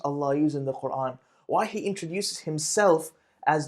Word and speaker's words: Qur'an: A lot of times we'll hear people say Qur'an. So make sure it's pronounced as a hamza or an alif. Qur'an.